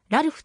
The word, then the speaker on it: Ralph: vw と略されるラルフは通常ラルフと読むが本人が古風な発音のレイフにこだわったという経緯から礼